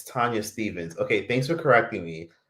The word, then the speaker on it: Tanya Stephens: And then another person is like, it's not Tanya Stephens, it's Tanya Stephens. And a bunch of shit. Even though it's spelled like Stephens, which is weird.